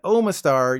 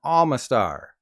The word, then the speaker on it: Omastar: from babies to fossils despite starting with an O neither of these Pokemon have an o sound in their name this means that instead of omanite and omastar you should be referring to them as ammonite and Alma star or Lord Helix depending